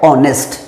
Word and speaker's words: honest: H silent होता है और इसका प्रोनाउंसिएशन होता है ऑनेस्ट।